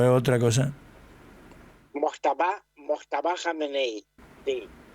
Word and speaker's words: Jameneí: Jameneí, así, pero es Mfáeneí. En la i Jameneí. Y y esto esto que se escribe Mfá me suena a Mustafá.